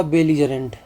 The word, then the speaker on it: belligerent: अगला वर्ड है आपका बेलीजरेंट। इंपॉर्टेंट वर्ड है। अगला वर्ड है आपका बेलीजरेंट। बेलीजरेंट का मतलब क्या होता है? सबसे पहले इसका प्रोनाउंसिएशन क्या है? बेलजरेंट।